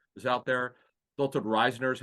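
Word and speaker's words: Risner: want Roger saffold is out there Phil told Reisner is how you pronounce it long time starter who was a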